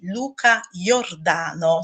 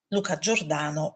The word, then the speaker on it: Luca Giordano: che quest'opera è di Luca Giordano, secondo la pronuncia spagnola. Luca Giordano per noi.